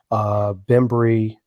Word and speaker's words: Bembry: bit of the four Bembry please correct me if I'm pronouncing that wrong I can't get the name cook that that is correct remembering whoo-ha right um